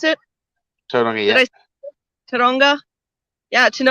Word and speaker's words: Tauranga: Like I've seen photos sent to me from New Zealand, from Taronga. Is that how I pronounce it? Tauranga, Did yeah.